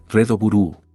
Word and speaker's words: REDBLUE: Rad Bu ape su pronunciación en japonés. Redo Burúu es una serie japonesa de ocho episodios adaptada del manga con el mismo nombre.